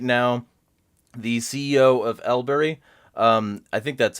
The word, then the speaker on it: LBRY: i am interviewing right now the ceo of elbury um i think that's how it's pronounced how do you pronounce it uh library library you can also just say lbry is also totally fine but library all right